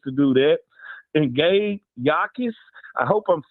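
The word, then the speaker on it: Jacas: And Gabe Yakis, I hope I'm saying that right. I think the J is silent.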